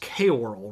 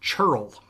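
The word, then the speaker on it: ceorl: It's pronounced K-oral, right? Or Cyril? No, because Old English is a weird language just like our language is pronounced. This is pronounced churl.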